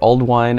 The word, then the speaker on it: Ealdwine: Stones as well so a little bit about alwine Raleigh we named our store Al wine as an homage to Alden ald wine pronounced Al wine is an Old English name